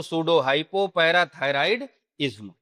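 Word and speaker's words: pseudohypoparathyroidism: और आई एस एम को क्या बोलते हैं? इज्म। तो पूरा क्या हो जाएगा? Pseudo. Pseudo hypo para thyroid ism.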